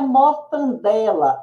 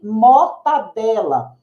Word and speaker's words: mortadela: Não é mortandela, e sim mortadela.